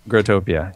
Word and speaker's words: Growtopia: well I was just looking at the gr grotopia is that how you say it grotopia grotopia yeah I just looking at the website for